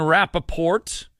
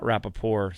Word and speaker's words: Rapoport: the first two games Ian Rapoport not Rappaport slick on well just